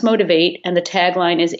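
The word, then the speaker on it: Motiv8: And the title is Motivate, which is spelled Motiv, and then the number 8. So it's pronounced Motivate, and the tagline is 8 ways to rock your own world.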